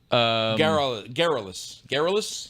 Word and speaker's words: garrulous: Garrulous. Garrulous. Yeah, garrulous. Okay. You know what that rhymes with? Frivolous. Scurrilous.